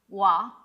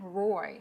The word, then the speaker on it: roi: for king, which is spelled R-O-I, but it's pronounced wa. So, but I think, Dalí and Schiaparelli was like, let's make it very, like American, Roy.